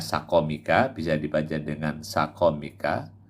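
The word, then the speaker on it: سقمك: Bifat hati ini cara bacanya sakomika, bisa dibaca dengan sakomika, sakomaka, bifat hati ini sakomika, sakom, fathahnya pada sin dan kof. Au bidommin fasukunin, atau dibaca dengan domah dan sukun, sukmik.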